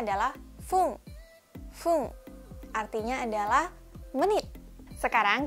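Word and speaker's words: 分: Lalu kanji yang terakhir adalah yang satu ini, dibacanya adalah fung.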